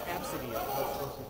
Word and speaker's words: Abcde: Oh, it's Absidy. That's supposed to be pronounced. Absidy. It's spelled ABCDE. It's like kids are still picking on it. Word? When it's like in the news. Absidy.